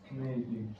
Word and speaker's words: kneading: However, even without the leavening agent, if dough were left without kneading. Kneading is also a silent K.